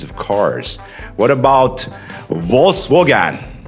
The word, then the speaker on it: Volkswagen: I think because it's a German car, if you're in Europe, we tend to get it from the normal pronunciation. For instance, if you get it covered on television, if you're in Europe, it'll usually come out the German way, Volkswagen. Volkswagen is the way they say it, Volkswagen, which is the